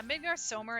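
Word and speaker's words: Midgardsormr: I think either pronunciation works, like Midgar Somer. I think Midgard But I'm Somer. weird. Yeah, Midgar Somer is probably the right way to say it.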